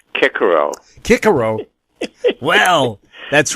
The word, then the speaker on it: Cicero: show off samaria edition those of us who took latin know that it's pronounced kikero kikero well that's right